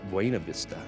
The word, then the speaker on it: Buena Vista: Colorado for some reason some people ask how you pronounce the town Buena Vista actually it does mean beautiful view but the newcomers when you see them come in they know it's wayna Vista yeah we love it